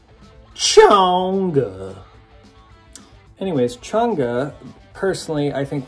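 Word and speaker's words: Chang'e: The middle track, which is pronounced Chonga. Chonga.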